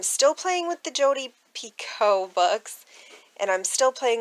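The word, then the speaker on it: Picoult: her last name properly i think it's pico like p-i-c-o pico it's french if anybody knows for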